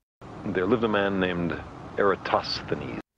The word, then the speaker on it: Eratosthenes: There lived a man named Eratosthenes. It's pronounced Eratosthenes.